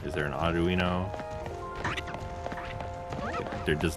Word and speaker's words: Audino: You're pronouncing the Pokemon's name wrong. The last half is pronounced Oh, Audino.